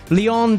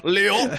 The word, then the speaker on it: Lyon: It's Lyon Decine. That's okay. Is that right? Yeah. That's pretty much good. You don't fully pronounce the N on Lyon, but it's I'll get there.